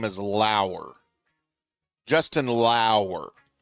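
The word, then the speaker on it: Justin Lower: I believe Justin pronounces prefers the proper pronunciation of his name as Lauer. Justin Lauer. Closer to Shane Lowry, but it's Justin Lauer.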